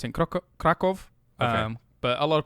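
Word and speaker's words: Kraków: Well, they pronounce it Krakow. Okay. But a lot of people say Krakow.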